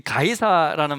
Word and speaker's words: 가이사: 영어 철자가 보니까 C를 이제 기역으로 발음해서 가이 SAR 사, 이게 한국말로 그대로 음력한 거예요.